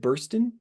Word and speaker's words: Burston: How do you say your last name? Is it Burston? Yes, that's it.